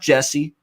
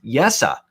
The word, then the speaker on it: Jesse: So Jesse, and that's how you pronounce it. It's not Jesse. It's not Yessi. It's Jesse. That's how you actually pronounce this name, Puljujärvi for the Edmonton Oilers.